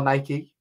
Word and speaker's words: Nike: You might buy Nike or Nike if you say it wrong.